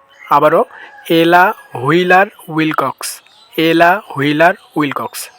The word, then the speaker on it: Ella Wheeler Wilcox: তাহলে আমরা এখন একত্রে বলি এলা হুইলার উইল কক্স আবারো এলা হুইলার উইল কক্স এলা হুইলার উইল কক্স তো আশা করি নামটা উচ্চারণ করতে আর সমস্যা হবে না তো আজকের